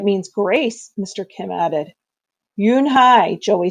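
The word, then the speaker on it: Unhei: Yes, it's pronounced Yoonhai. And it means grace, Mr. Kim added. Yoonhai, Joey said slowly, and this time perfectly.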